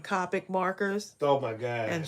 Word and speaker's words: Copic: about that it's not Copic it's Copic um of course the video is still up it's Copic Copic topic Copic topic how dare you say it wrong I will be calling